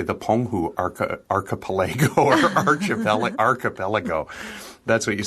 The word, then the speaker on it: archipelago: Okay, so we say archipelago. Well, that's what I said. I thought you said archipelago.